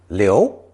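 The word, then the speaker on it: 留: above the field component is pronounced second tone Leo Leo this character refers to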